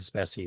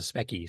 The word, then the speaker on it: Speccy: that previous video there, they called it the Speccy. Nobody called it the Speccy. It was a Specky, short for Spectrum.